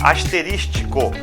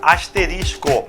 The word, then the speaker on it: asterisco: Observe que eu não falei a palavra asterístico, eu falei a palavra asterisco, que muitas vezes as pessoas também pronunciam errado, né?